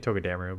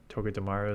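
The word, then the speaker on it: Togedemaru: always won toga dearu as someone's mentioned how you pronounce it properly I like saying to damaru but toga dearu apparently is how you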